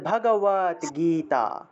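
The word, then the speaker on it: ভগবদ্গীতা: আসে আরেকটা গ আসে এই হসন্ত যুক্ত দ টাকে আবার ত তের মত উচ্চারণ করতে হবে তাহলে উচ্চারণটা হবে ভগ কি হবে ভগবত হ্যাঁ ভগবত ভগবত ভগবত তাহলে শ্রীমত ভগবত তারপরে কিরকম উচ্চারণ এটার উচ্চারণ কিতা গীতা হ্যাঁ গ তে গিয়ে একটু দীর্ঘ টান দিতে হবে গীতা শ্রীমত ভগবত গীতা শ্রীমত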